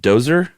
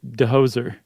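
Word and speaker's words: Djoser: Uh during the time of King is that Dozer. That's what I That's how I take it. J is silent, right? Uh Dehoser.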